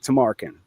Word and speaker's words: Tamarkin: Please welcome the man whose trauma now has distribution rights, Tarin. Did I say that right? You did. It's pronounced exactly how it's spelled.